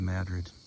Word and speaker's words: Madrid: That's when I'll be close to Madrid. Madrid, Iowa, it's spelled like Madrid, but pronounced in Madri.